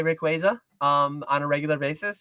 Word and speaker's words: Rayquaza: They did they did a list of like often mispronounced Pokemon and it's it's Ray Quaza.